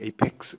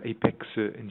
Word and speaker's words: Apexi: FC made by the Apex company here in Japan, pronounced Apex in Japanese, known as Apex or Apexi or Apexi I.